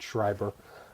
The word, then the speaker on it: Schreiber: cy ve are calm his name is spelled s CHR III be ER it's Brad Shriver but again the book